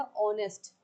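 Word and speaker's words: honest: अब आप यहाँ सोचेंगे कि एच है, कॉन्सोनेंट है तो ए आएगा, नहीं आएगा, क्या आएगा, ऑनेस्ट। आवाज़ निकालेंगे, प्रोनाउंस करेंगे, एन आएगा। चलिए नेक्स्ट में आ जाइए,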